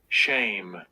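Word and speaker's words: שם: there strongs H 834 shame shame you notice the word for name in the Hebrew is shame that is how you pronounce it and whenever somebody tries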